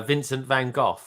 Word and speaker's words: Vincent van Gogh: something the other day and it is definitely pronounced uh vincent van gogh yeah on on what's it called on google